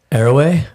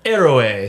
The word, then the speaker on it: Héroe: Erway. Erway. So the H is silent. That's how you say it. Errorway.